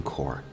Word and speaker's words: Corps: Navy is the Marine Corp core is a French word so we do not pronounce the P or the S here the Marine Corp is